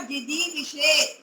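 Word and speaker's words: जिजीविषेत्: अभी हमने पढ़ा था ना विधिलिंग, एत, एताम, एयु, तो यहाँ पर जिजी विशेष, जिजी विशेष। यहाँ पर ये मूर्धन्य शकार का भी थोड़ा ध्यान रखना है उच्चारण में, जिजी विशेष, और ये छ के स्थान पर यहाँ पर हो जाएगा शतम।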